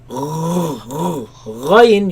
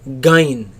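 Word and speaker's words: غين: is raised towards the ghain place, right? Right? So ta, Ta. dha, Tha. ayn, Ayn. ghain. Ghain. Do not pronounce it as gain. G. There is no such sound in Arabic.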